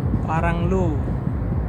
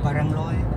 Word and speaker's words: Parangloe: Paranglu. Itu bacanya apa? Paranglu gitu. Parangloe. Parangloe. Iya. Oh. Berarti O-nya itu dibaca ya? Iya. Disambung huruf E-nya. Parangloe.